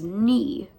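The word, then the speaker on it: 二: Basically, in Japan, they pronounce the number 2 as ni, and they pronounce meow as nya.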